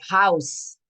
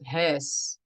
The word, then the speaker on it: huis: So sometimes the words would be pronounced like, yeah, like house instead of huis.